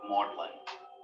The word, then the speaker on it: Magdalen: here at modeling college named after mary magdalene but keeping its middle english pronunciation of maudlin lewis was 26.